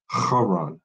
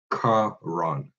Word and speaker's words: Haran: It's supposed to be Haran, not Karan.